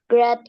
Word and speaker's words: great: Kalau kita buang G sama R-nya bunyinya sama dengan angka 8.